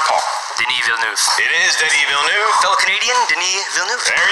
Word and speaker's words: Denis Villeneuve: It is Denis Villeneuve. Fellow Canadian, Denis Villeneuve. There you go. They have the pronunciation.